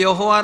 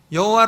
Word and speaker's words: 여호와: 아도나이 이렇게 바꿔서 있습니다 그러니깐 맛소라 파가 어여 여호와라는 자음의 다가 모음을 찍을 때에 어떻게 찍나 아도나이 에 모음을 갔다가 찍은 거에요 그래가지고 그 발음이 여호와 이렇게 된 것입니다 여호와 우리 성경에는 여호와